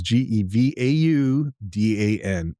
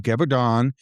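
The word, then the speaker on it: Gévaudan: It's the beast of Gevaudan, and that is Gevaudan. Gevaudan is how I'm going to pronounce it. It's at least as close as I can get from the Google pronunciation guide.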